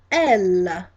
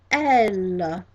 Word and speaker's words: elle: And the second one, she, in English, in French, is pronounced elle, elle, and that is spelled E, D, L, E, E, D, L, E, and that is elle again.